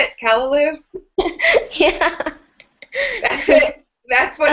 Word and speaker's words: callaloo: callaloo with saltfish that how to say it callaloo yeah that's it that's what I've been told